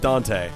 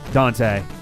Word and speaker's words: Dont'a: So he pronounces it Dante. Dante. But it's spelled Donta.